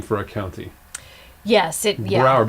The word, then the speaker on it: Broward: Yes, Broward, because it rhymes with? Coward.